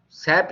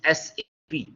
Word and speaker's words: SAP: People pronounce it SAP. SAP is wrong. It is SAP.